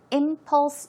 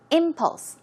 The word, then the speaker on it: impulse: past she was an Impulse buyer she would buy things without much thought very quickly suddenly and the pronunciation is impulse as you see the stress goes on the first syllable so it's impulse impulse